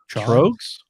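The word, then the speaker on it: Tröegs: I always can never figure out how do you pronounce that? Trogs. You know? Trugs. Because it's got the umlaut.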